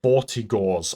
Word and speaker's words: Vortigaunts: But then, then there's a part in this chapter, okay, where you have to run through a gauntlet of Vortigaunts, I believe is how it's pronounced.